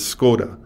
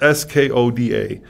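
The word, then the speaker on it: Škoda: you're pronouncing it the way you read it is skoda right right at s-k-o-d-a except in check there's a little a hot check which is a little check above the s which turns the s into a shi so the word is actually skoda which is also the word for shame in check yeah it's a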